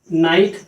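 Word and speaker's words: knight: अगला है के साइलेंट। के कब साइलेंट होता है, जब ये एन के पहले आता है, जैसे KNO, नो, KNIFE, knife, KNIGST, नाइट। अब यहाँ पे देखिए ये जो के है साइलेंट है, के साइलेंट है।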